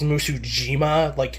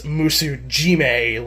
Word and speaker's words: Musujime: So I always assume it was Musujima, Musu Jima, but no, it's Musu Jime, like Jime.